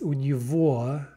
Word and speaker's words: у него: тебя, at him is у него, now look at the г, right, the г there is pronounced в, у него, at her is у